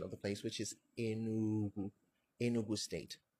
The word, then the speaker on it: Enugu: So we have to go back to the original pronunciation of the place, which is Enugu, Enugu state, right?